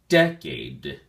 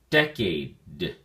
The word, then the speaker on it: decade: look at your flashcard decade has two syllables and the emphasis or stress is on the first syllable day and be sure to enunciate the last d sound as well so we say decade decade it is a